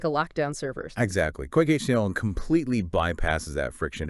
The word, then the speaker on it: QuykHTML: We're going to be exploring quick HTML. That's qu u y khtml and it's pronounced quick html which is you know a pretty clever little play on words.